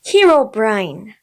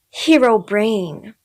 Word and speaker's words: Herobrine: friends in discord that it's supposed to be pronounced herobrine and not hero brain so i'll be judging